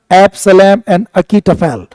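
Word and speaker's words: Absalom and Achitophel: English में पढ़ा होगा एब्सलम एन अकीटफेल इसका प्रोनाउंस ध्यान रखना एब्सलम एंड अकीटफेल यह लिखा जो बहुत गजब का था जिसमें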